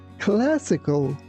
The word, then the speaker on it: classical: When you see this word, be careful not to say keos. It's classical. Classical.